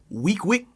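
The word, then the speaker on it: Weequahic: The way it's spelled and the way it's said is two different ways. If you read it, it's some bullshit. That shit sound like it's in the project. Nah, week. Yeah, like 7 days a week. Way. Just say it like that.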